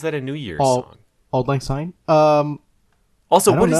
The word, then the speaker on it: Auld Lang Syne: Mom, who sings Auld Lang Syne? You know what? I'm gonna look it up because I never. Oh, it's that's the Scots pronunciation of it. I guess it comes from Scots.